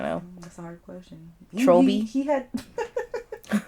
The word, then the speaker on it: Trolby: People are gonna read that name and they're gonna be like Trob. You're gonna have to still correct the pronunciation. Trolby.